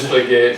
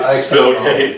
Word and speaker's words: Splitgate: Splitgate. ML keeps saying the name wrong. Splitgate. Spillgate.